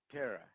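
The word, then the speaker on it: PERA: It's spelled P-E-R-A. P-E-R-A. Peter, Elephant, Robert, Amelia. Para.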